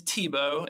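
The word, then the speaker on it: Thibault: So his name is Tebow, and it's spelled like Thebalt, but he's a really awesome guy.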